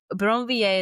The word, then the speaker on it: Brinvilliers: But Bronier is how we're going to say the name. It's okay if you roll your R a little cuz I think it comes out naturally.